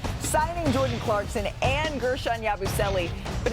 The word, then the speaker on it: Yabusele: Y'all pronouncing it wrong. Yeah, it's Yabusele. There you go. So that's easy. Yabusele.